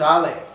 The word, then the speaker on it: Hale: you get a name, Hale? And I said, well, my name, it's an English name, but it's been a Mexican family name since 1571. It is pronounced Ale.